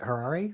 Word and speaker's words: Harari: I'm going to get the author's name wrong. Is it Harari, maybe?